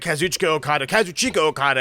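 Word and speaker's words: Kazuchika Okada: We never thought he would actually leave Japan, but the great Kazuchicka Okada, as you're supposed to pronounce it, is officially leaving Japan as of January 31st, which is 11 days from now.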